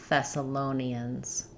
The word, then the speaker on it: Thessalonians: Uh we stress on the low syllable. Uh let's start with that syllable. Lonians. Thessalonians.